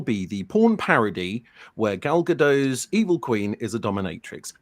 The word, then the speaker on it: Gal Gadot: And also, her name is pronounced Gal Gadot. It is Gal Gadot.